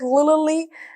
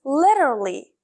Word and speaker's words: literally: word literally literally L I heard many English leers say this like Lally no this is literally literally literally for example she took